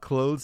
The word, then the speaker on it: clothes: there what's cool about clothes is that even though it is spelled a th it sounds like clothes like close the door so like when you